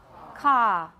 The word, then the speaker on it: car: in the word car, Brits don't pronounce the R. Therefore, we get a schwa. Is that correct? How do we say this word in American? How do we say it in British? Ka.